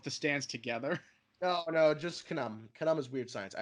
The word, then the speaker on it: Khnum: Oingo himself, which is Knum. I believe that's how you're supposed to pronounce it. Knum. I thought it was Kununu. No, it's Knum.